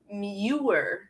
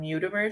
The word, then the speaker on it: Muir: it's called the john i'm going to say it right newer trail but when i ever i tried to tell somebody about this trail i called the john mutemer trail and the one time